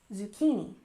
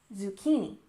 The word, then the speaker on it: zucchini: Zucchini has emphasis on the second syllable, zucchini, zucchini.